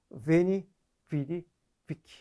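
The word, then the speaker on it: veni, vidi, vici: 우리 박력 넘치는 웨니, 위디, 위키. 좀 더 익숙한 발음으로 웨니, 위디, 위키. 이렇죠.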